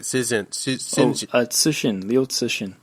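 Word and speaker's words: 刘慈欣: Cixin, Liu Cixin.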